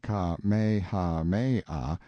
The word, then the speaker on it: Kamehameha: When Kamehameha, pronounced Ka-me-ha-me-ah, the Great, who was a very